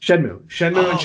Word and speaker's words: Shenmue: how do you say that oh Moo yes Shenmue yes yes they started on they started on